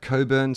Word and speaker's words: Cockburn: the sea so I got a map and Coburn is spelt COC kb u RN so i was